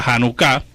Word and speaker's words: Janucá: pero la verdad que el acento está en la última sílaba la janucá que se celebra en